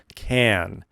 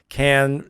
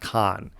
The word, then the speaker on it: Cannes: Some years it's Cannes, some years it's Cannes, but the correct pronunciation is Cannes. Cannes is the correct way, not Cannes.